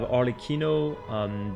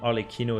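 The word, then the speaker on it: Arlecchino: next up we have arlikino this one is an Italian word so there's not going to be any particular French pronunciation well Proline probably pronounce it alequino as well and we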